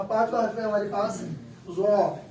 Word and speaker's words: ظا: اور چوتھا حرف ہمارے پاس یہاں پانچواں حرف ہے ہمارے پاس ظا. اس کے تلفظ کے لیے کیا کرتے ہیں؟ دانتوں کو کھول کر پڑھتے ہیں.